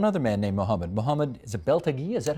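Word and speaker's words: Beltagy: compromise and one other man named Muhammad Muhammad is it belag is that how you say it Bel tagi Bel tagi uh who was he and what's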